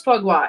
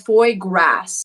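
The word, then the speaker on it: foie gras: to try it it's okay who who knows fwa is f o i e g r a s so it's spelled Foy grass okay Foy grass sort of but it's it's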